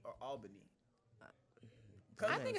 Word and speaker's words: Albany: I was born in Phoebe Putney Hospital in Albany, Georgia. Phoebe Putney. Albany. Yeah. It sounds like an auntie. Phoebe Putney. Phoebe Putney. Look, for Country real as hell. quick, is it Albany or Albany?